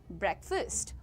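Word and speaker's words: breakfast: इट इज़ ब्रेकफास्ट। Alright. Now से it first. The ए becomes अ इट इज नॉट फास्ट इट इज अ इट्स ब्रेकफास्ट alright moving on everyone I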